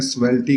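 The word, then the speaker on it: Svelte: अब ये मुझे नहीं पता इसको कैसे प्रोनाउंस करते हैं, स्वेल्टी करते हैं या स्वेली करते हैं, खैर मैं इसको चेक कर लेता हूँ। इसको डबल क्लिक करके मैं यहाँ पर स्पीच करूंगा और स्टार्ट स्पीकिंग पे क्लिक करूंगा तो इसने प्रोनाउंस किया स्वेल्ट।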